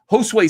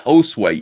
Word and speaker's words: Josue: I just looked at it and go, yeah, your name is Josu. No, it isn't. It's Josue, Ethan, you idiot. Oh, it's pronounced differently.